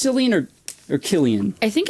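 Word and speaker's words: Cillian: oh that's weird oh I think it is Killian yeah I looked up pronunciation and it goes pronunciation no legit it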